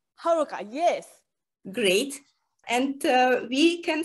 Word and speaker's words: Haruka: Your name pronunciation, Raisa? Raisa, yes, you are right. And your name, Haruka? Haruka, yes.